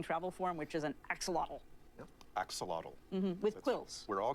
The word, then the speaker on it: axolotl: But best of all has got to be the swimming form, the swimming travel form, which is an axolotl.